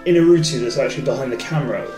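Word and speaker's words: Iñárritu: Can I just pronounce this for you? Yeah, of course. Alejandro Inarritu.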